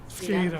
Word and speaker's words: SCADA: SCADA. SCADA?